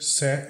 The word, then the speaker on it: set: Need you to set. O T aqui não é pronunciado.